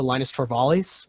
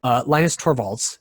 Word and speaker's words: Linus Torvalds: uh really goes to linus torvallis which or i'm sorry i totally butchered that linus torvalds is the guy who